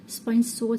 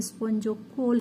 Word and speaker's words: spongocoel: Water flows from ओशिया, स्पंज सोल, स्पंज सील का भी word हम यूज करते हैं, स्पंजोकोल का भी वर्ड हम यूज करते हैं। Both of this pronunciations are correct.